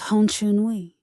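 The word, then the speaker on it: Honcheonui: He builds the Honchonui, rings of bronze like orbits, pronounced Honchonui.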